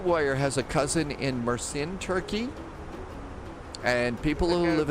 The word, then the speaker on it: Mersin: It's pronounced Mersin. Thanks, Widget Warrior. It's pronounced Mersin.